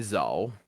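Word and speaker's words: Zuhl: You may call me Zal. Zal. That is spelled with a U, an H, and then an L.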